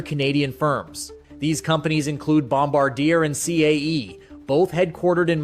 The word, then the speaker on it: Bombardier: It's Gripen and it's Bombardier.